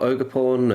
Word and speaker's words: Ogerpon: Why is there an R at the end there? There's no R. What are you on about?